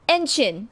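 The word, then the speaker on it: ENHYPEN: Enchin is what it's called. Enchin, which is weird because it rhymes with engine. Engine, which is the fandom name. But Enchin, not engine, Enchin, Chin.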